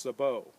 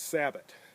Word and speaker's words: sabot: is the bullet shoe, and it's properly now pronounced sabot, not sabot.